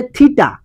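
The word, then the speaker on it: theta: তাহলে থিটা একটা কি জিনিস, এটাকে উচ্চারণ করবে এইভাবে, থিটা থিটা, এটা একটা কি জিনিস, এটা একটা কোণ, এটা একটা কোণ।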